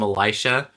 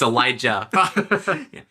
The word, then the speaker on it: Elijah: You hear me call him Elisha? It's Elijah. J as in Jesus.